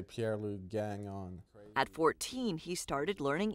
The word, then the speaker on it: Pierre-Luc Gagnon: In French, it's Pierre-Luc Gagnon. Okay. If you're going to pronounce it in French, but people out here just say Pierre-Luc Gagnon.